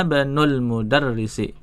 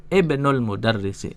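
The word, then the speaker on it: ابن المدرس: Ana benul mudarrisi, ya. Ana benul mudarrisi, ya. Kalau dibaca dipisah tuh gini. Ana ibnul mudarrisi, ya. Ana ibnul mudarrisi. Kalau bacanya nyambung, hamzanya nggak kebaca, hamzah wasolnya.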